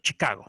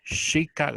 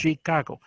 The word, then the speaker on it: Chicago: Nosotros en español, Chicago. Así va. No, en inglés es un poquito más suave. Chicago. Es como la che también suena como che, pero es como un poquito jalando la S. Entonces, Chicago.